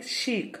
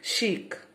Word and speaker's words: chic: Not chic, sorry, chic. How you have to pronounce? Chic. Okay.